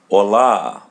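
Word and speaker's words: olá: As you see, there is an accent or asento as in Portuguese. Just open your mouth and pull the sound of a hola.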